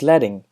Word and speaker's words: leading: Next up is pronounced leting.